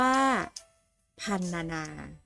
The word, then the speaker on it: พรรณนา: มี พยางค์ ตาม หลัก ให้ อ่าน ออก เสียง พยัญชนะ สะกด ประสม สระ อะ ครึ่ง เสียง หรือ กึ่ง เสียง จึง อ่าน ออก เสียง